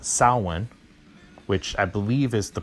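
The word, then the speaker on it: Samhain: Danzig and then I remember hearing about his second band called Sal one which I believe is the proper way to pronounce it I think it's it's proper Gaelic pronunciation and it spelled sa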